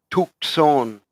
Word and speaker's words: Tucson: even more south is Tucson okay SP spelled and pronounced in Spanish tukon tu tu c s